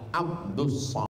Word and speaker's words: Abdul: awak yang salah baca tulisannya Abdul Somad tapi membacanya adalah Abdus jadi nama ini dimintakan